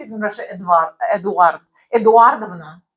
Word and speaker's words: Эдуардовна: Eduardovna. How do you spell that?